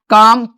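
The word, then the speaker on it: comb: अगर MB last में है तो B का उच्चारण नहीं होगा, कम, थम, लैम, क्लाइम।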